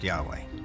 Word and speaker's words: Yahweh: According to one account, Abraham knew God by his intimate personal name, conventionally pronounced Yahweh. Passages with the name Yahweh, which in German is spelled with a J, scholars refer to as J.